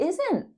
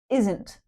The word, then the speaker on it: isn't: Isn't aren't. But in natural speech, we often swallow that T sound.